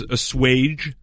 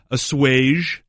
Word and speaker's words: assuage: Number 1, and this is the most common, is assuage with a hard J. Yeah. Okay. Number 2, assuage. Assuage. Ooh, with a soft G almost. Okay. And number 3, assuage.